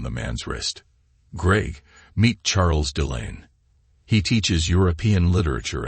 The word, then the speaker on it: Charles: dear husband she replied Charles pronounced the French way as Charles struck me as your